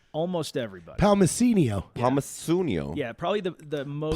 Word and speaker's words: Palmisciano: Palmisciano. Oh, is that what it is? Yeah, it's No. I've been pronouncing it wrong I know, this it's entire Pal- time. it's That's Palmisciano.